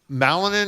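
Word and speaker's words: Malinin: This guy I'm going to mispronounce it. Ilia Malanin.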